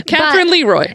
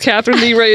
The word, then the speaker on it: Catherine Leroy: worried about how to say her name yeah katherine leroy yes right catherine leroy um but it didn't even occur to me that her name was not pronounced catherine lee wrote until you said it and i was like